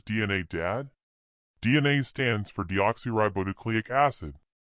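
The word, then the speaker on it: deoxyribonucleic acid: dad DNA stands for deoxy ribonucleic acid it's a long word but easy to pronounce if you divide it into smaller pieces you can say it like this deoxy ribo nucleic acid I prefer DNA it's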